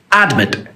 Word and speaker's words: admit: word which it is it's admit it is not admit it is admit and the mint is the strong syllable the second syllable is a strong syllable it finishes with a